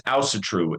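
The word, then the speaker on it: Ásatrú: No, so it's Asatru. Asatru. The little apostrophes that go over the A and the U.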